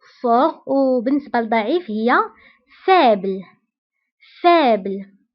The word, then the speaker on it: fort: laid قوي fort fort هنا أيضا تي لا تنطق في آخر الكلمة fort وبالنسبة لضعيف هي faible